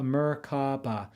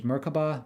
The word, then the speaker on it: merkabah: in other cultures as merkabah merkabah merkabah there are several pronunciations but generally you pronounce it as if the three syllables were separate with accent on each myrrh refers to a